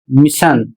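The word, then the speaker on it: mission: अगला शब्द है एम I double S आई ओ एन और इसे पढ़ा जाता है मिशन और इसका अर्थ होता है अभियान।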